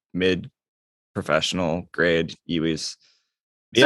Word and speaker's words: EWI: Have you ever played an iwi? A what? An iwi? I think I'm saying it wrong, or iwi, like iwi. It's like EWI.